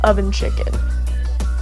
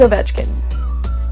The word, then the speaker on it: Ovechkin: dude that dude is named oven chicken no his name is Ovechkin but that's how I pronounce it my head he's called the grade